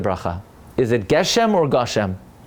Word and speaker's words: Gushem: pronounce it correctly, because now it's not Geshem, now it's Gushem. You know why? Because you never say Geshem, it's always Gushem.